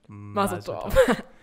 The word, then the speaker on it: Mazel Tov: Jewish people and Mazel Tov. Good pronunciation, by the way.